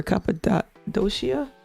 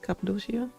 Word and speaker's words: Cappadocia: Ooh, over Cappadocia? Is that how you say it? Cappadocia?